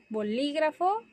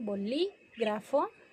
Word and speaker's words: bolígrafo: Por ejemplo, bolígrafo, que lleva acento en la LI, bolígrafo, o pájaro, lleva en la antepenúltima sílaba.